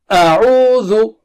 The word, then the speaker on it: أَعُوْذُ: And then let's recite the word A'udhu. A'udhu. A'udhu. A'udhu. This way you can get the control over each of the syllable.